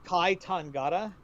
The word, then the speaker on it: Kai Tangata: trying the song is kai tangata how do you spell that k-a-i one word second word tangata t-a-n-g-a-t-a tangata okay i got